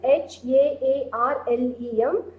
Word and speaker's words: Haarlem: In a village near Haarlem, this pronunciation is H-A-A-R-L-E-M.